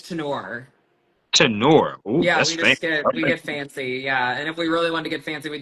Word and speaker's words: Turnure: So it looks like Turner, but it's Tenor.